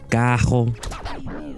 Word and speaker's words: carro: The word for car Carro, becomes cajo.